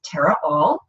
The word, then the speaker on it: Tara Aal: are not familiar with me my name is Terra all that's name is spelled AAL and you can find me at